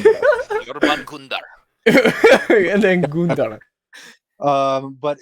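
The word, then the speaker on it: Jörmungandr: It's like when I see things like Jormungandr versus that was a horrible pronunciation. Yorban Gundar.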